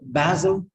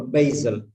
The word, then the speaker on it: basil: i use this fine so basil or basil but s is pronounced as za c is pronounced s